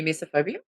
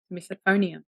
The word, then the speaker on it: misophonia: in general gives me misophobia no because you said it wrong misophonia misophonia yeah see that's that's